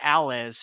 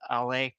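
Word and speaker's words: Allez: Actually, I called it Alles for years until I figured out that it's actually pronounced AL.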